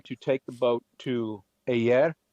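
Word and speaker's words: Hyères: We're going to take the boat to Ayer, which is spelled Heyers, but it's pronounced yeah, or okay.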